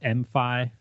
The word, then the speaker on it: MFi: I think they call it MIFI. It's it's spelled MFI, but you know there's